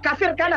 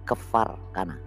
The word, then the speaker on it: Kefar Kana: Israel dua kafir Kana bacanya itu kafir Kana kafir kafir Kana is sini saja sudah dia menipu kafir Kana Padahal dia belum pernah ke sana saya yang sudah ke sana Ini namanya kefar kana kefar itu namanya artinya